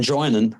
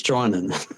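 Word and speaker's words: Drinan: out of respect and we had a player called Aaron Aaron Dranan who who got called Dran for best part of a season and a half before he actually said to someone do you know it's dryan always nice yeah ask him and get him in.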